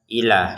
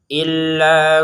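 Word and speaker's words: إِلَّا: Kalau illa ini kita tekan ya. Perhatikan ila yang di sini enggak ada tasdid kita bacanya ilaha ila ya. Kalau yang illa ini kita tekan lailahailla. Jadi harus kita tekan jangan ila kalau yang ini.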